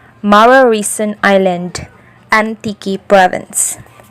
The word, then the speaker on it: Mararison: The last but not the least, my most favorite, number 1, Mararison Island, Antique Province. Formerly known as Malalison Island because the small community inhabited the island pronounced letter R as letter L.